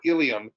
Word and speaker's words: ileum: um to know that terms like ilium or ilium um again are pronounced exactly the same but refer to different